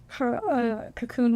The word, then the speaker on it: Kaqun: 2 of them were the cocoon water. There it is. Cocoon, there it is, yeah. Cocoon water. It's spelled Kaqun, and it's just like hyper oxygenated water.